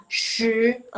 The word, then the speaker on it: 十: Shi, lidahnya gantung. Shi, 十 shi, 十 jangan kebuka. Tetap munyung gini. Apa sih bahasanya? Gini. Shi, 十十 Tuh. Ya. Seperti itu. Emang agak lebay sih, tapi emang begitu pelafalan yang benernya. Shi, oke? Ingat ya. Shi, ingat lidahnya gantung.